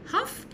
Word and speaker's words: half: خلي بالكم half يعني نص الساعة، ال silent ما تنطقهاش.